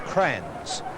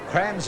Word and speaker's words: Kranjc: Geelong West, and the pronunciation of the fellow number 4, Kranjc, is Crans. Crans is the player for Geelong West there.